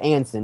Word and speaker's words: Anson: It's pronounced Anson, right? Yeah. All right, I didn't know.